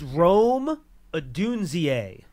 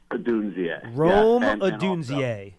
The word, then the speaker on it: Rome Odunze: I can't pronounce his name, but he's just so good. Okay, let's work on it. It's Rome Odunze. Rome Odunze.